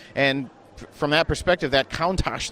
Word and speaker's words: Countach: there's theories there but according to wikipedia it's countach and what a countach